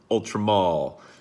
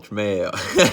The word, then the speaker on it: Ultra Male: Today we're going to be going over Jean-Paul Gaultier Ultramale, or as some of you like to say, Ultramall, but there's an E in there, so I'm going to call it Ultramale.